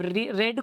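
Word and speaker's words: read: अब रेड को भी रीड वाली स्पेलिंग के साथ ही लिखते हैं।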